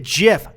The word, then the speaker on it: GIF: that it's like well the person who made it pronounces it jiff I don't care you